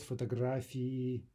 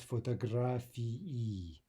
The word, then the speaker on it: фотографии: Now note that ending e, remember the old rule that no Russian vowel is silent, right? So if we have two vowels there in the ending, e, then that should be two distinct syllables if we're speaking clearly.